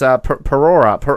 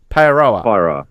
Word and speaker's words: Paeroa: It's Parora. How do you say it? Parora? Paeroa.